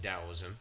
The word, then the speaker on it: Daoism: the rise of Daoism sometimes spelled with a t but it's pronounced DSM developed by Lau 600